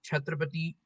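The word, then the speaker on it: Chhatrapati: back to your story okay yeah so the pronunciation is chatrapati yeah perfect yeah perfect right okay okay okay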